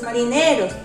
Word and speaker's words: marineros: Naturalmente tengo 8 ahora, pero la última palabra, marineros, ¿dónde lleva la mayor fuerza de voz? Muy bien, la mayor fuerza de voz está en la penúltima sílaba. Última, penúltima y antepenúltima sílaba. Marineros. Entonces la mayor fuerza de voz sobrecae en la penúltima sílaba, y la penúltima sílaba es una palabra grave.